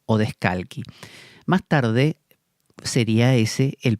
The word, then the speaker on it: Odescalchi: Más digo sería porque se escribe Odescalchi, imagino que será, como es italiano, Odescalchi.